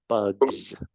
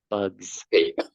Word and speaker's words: bugs: when we pronounce this I know the spelling is an S Jose but make sure that you pronounce it with a strong Z bugs bugs very good uh what